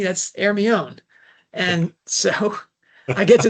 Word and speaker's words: Hermione: Oh no, that's not pronounced Hermione, that's Hermione.